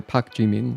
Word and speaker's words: Pak Jimin: Like maybe Jamie's like their American name, but they're Pak Jimin. That's a Korean name, 3 syllables.